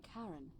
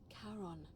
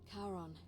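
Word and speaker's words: Charon: is a little off the name you heard wasn't Karen it was c h a r o n as in karon the Fairman of the Dead karon who in exchange for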